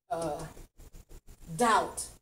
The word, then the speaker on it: doubt: The natural, with your eye, remember, if it's not hidden, it's silent, that means that it is a sight word. It's a word that you have to remember how it's spelled because it doesn't sound like it reads.